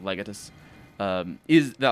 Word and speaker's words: Legatus: the distinction is the the distinction between pronouncing it uh lagatos or whatever he pronounces it like instead of legatus uh is that like